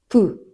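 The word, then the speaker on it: 黄熊: あとすごい面白いなって思ったのが黄色いクって書いて何でしょうか ? プーはい。熊のプーさんディズニーのから取ってプーらしいです。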